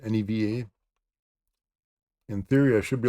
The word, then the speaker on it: Neva: Neva, it's pronounced Neva.